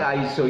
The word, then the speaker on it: ISO: Apa sih ISO itu? Yang tulisannya ISO, kita bacanya ISO.